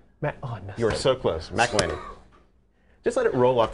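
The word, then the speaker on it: McIlhenney: McElhenney. Just let it roll off the tongue. It's an Alpine pronunciation. McElhenney.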